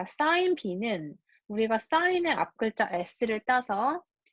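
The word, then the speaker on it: sine: 자, 그래서 우리가 이제 요 기호는 sign이라고 읽고요.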